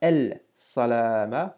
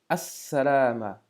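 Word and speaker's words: السلامة: Et enfin, l'expression ici donc avec le mot salama, as-salama, on ne dira pas el salama, mais bien as-salama.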